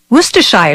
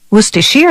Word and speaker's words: Worcestershire: its name can be a bit of a tongue twister Worcestershire sauce Worcestershire sauce Worcestershire sauce all those pronunciations are acceptable as are the endless